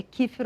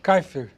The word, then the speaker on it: Kaefer: pronúncia do seu nome é kifer ou kaifer kaifer ker Senhor me desculp Senhor